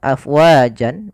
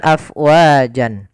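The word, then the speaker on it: أَفْوَاجًا: Nah, di sini ganti, awalnya dia adalah panjang afwajan, awalnya tanwin, karena berada di akhir bacaan maka dinamakan dengan mad iwad. Kalau dia waqaf maka berubah menjadi panjang sebagaimana mad tabi'i. Afwaja. Ya, bukan afwajan.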